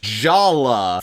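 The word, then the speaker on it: Jaller: Also, Jala's name is spelled like this, but it's pronounced Jala for reasons that humanity really has yet to fully understand.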